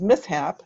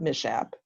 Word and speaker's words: mishap: And it's not always clear where syllable breaks occur. And this is, we teach, for example, SH as a digraph, as sh, but the word is mishap, not mishap.